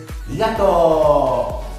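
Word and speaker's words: ありがとう: Por ejemplo, en la palabra arigato, tú no dices arigato, lo que dices arigato.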